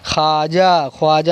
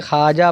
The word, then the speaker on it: خواجہ: اسلام کی تبلیغ فرمائی۔ خواجہ نہیں پڑھیں گے، خواجہ پڑھیں گے۔ خورشید روزانہ مشرق سے